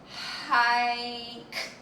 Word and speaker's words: hike: But something that we can learn from the word hike is something called silent E or mommy E. So I like to say mommy E because mommy E goes at the end of the word.